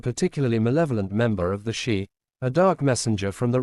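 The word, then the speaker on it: sídhe: links the dullahan to the shei pronounced shei often translated as fairies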